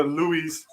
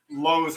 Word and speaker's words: Lowe's: He was mispronouncing. He's like, yeah, Louis. So I'm here. I'm like at Louis, but we were not supposed to go to Louis. He was going to Lowe's, the hardware store.